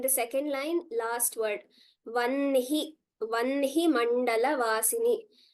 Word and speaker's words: वह्नि: second line, last word, Vanhi Mandala Vasini. Though it is written a little differently, the way we pronounce it is like numbers 1, 2, 3, Vanhi.